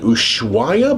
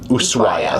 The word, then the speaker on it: Ushuaia: So y'all come back tomorrow because I've learned that the correct pronunciation of tomorrow's port is Ushuaia. I know in the past I have said Ushuaia, but we have been told and we've heard the locals say Ushuaia.